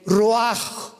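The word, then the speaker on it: ruach: El roaj, que la palabra hebrea para espíritu.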